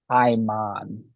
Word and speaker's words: Paimon: would it would um I pronounce it I'm on and he rides a